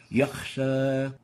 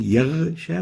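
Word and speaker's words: يغشى: The third mistake is exchanging the ghain with the kha. Example, yakhsha. We have a ghain here, and instead of pronouncing yaghsha, we pronounced yakh, yakhsha. This is wrong. The right way of pronouncing it is yaghsha. Yaghsha. So we shouldn't replace the ghain with a kha.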